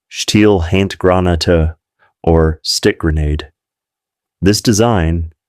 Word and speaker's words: Stielhandgranate: The Germans had one significant advantage in close-quarters combat: the steel hand granate, pronounced Stielhandgranate, or stick grenade.